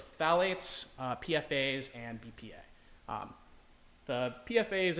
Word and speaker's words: phthalate: Phthalate. There we go. Phthalate. Phthalates. Phthalate. Oh, hell yeah.